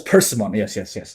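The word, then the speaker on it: Paimon: Pronunciation. Oh, it's Pimon. Yes. Yes. Yes. It's not It's not apimon. It's a perman uh pronunciation. I need to make sure I'm correct. Pimmen.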